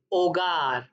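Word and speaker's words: hogar: आचे जो होता है वो हमेशा साइलेंट रहता है स्पेनिश में, तो उसको प्रोनाउंस ऐसे करना है आचे। आचे दे ओला। आपने देखा होगा ये एच लिखा हुआ है, मैंने इसीलिए रेड किया है कि ये प्रोनाउंस नहीं होगा।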